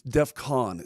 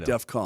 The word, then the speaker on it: DEFCON: It's defcon. C O N, not defcon.